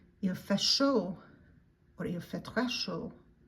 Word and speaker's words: chaud: Il fait chaud. Il fait chaud. Or il fait très chaud. It is hot. It sounds like S-H-O-W in English, but you write it as C-H-A-U-D.